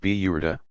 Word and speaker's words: Burda: A very popular part of the festivities is the recitation of a poem by the 13th century Egyptian poet Bizari, the Burda, pronounced Biyurda, mantle.